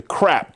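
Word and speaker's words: CRAAP: And we call it the crap test. That's right, crap. But this one is spelled C R A A P.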